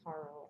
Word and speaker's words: taro: speaking of potato chips i eat taro that's how you would say it like the root vegetable chips yeah yeah i think we might say taro a lot but um it should be taro i think um and you